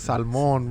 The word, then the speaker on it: salmon: It's like you fucking you pronounce the L on salmon. Yeah, you do. I don't even Nah, want to this try. fool says salmon, bro. Salmon, yeah, it's salmon.